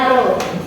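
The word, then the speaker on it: ρ: Itu P sama dengan M per P. Itu bacanya bukan P ya, tapi bacanya Rho.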